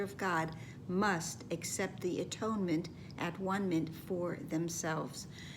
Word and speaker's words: atonement: And there is, of course, many of you know, an alternate pronunciation that is very popular. Instead of atonement, which for many has too many religious connotations to it, to pronounce it as at one meant, because that is true as well.